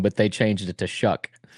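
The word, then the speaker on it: Shough: I wasn't listen I wasn't listening to because like how do you pronounce the quarterback for the Saints last name? Shuck. Shuck.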